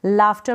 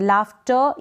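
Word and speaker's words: laughter: भी हम लाफ्टर पड़ेंगे लाफ्टर या लाफ्टर दोनों तरीके से आप इसको प्रोनाउंस कर सकते हैं मतलब की ये जो लास्ट में आर ए रहा है इसको आप प्रोनाउंस करें मुंह से बोले तो भी चलेगा और हल्का सा इसका साउंड दे तो भी चलेगा दोनों प्रनंसीएशन करेक्ट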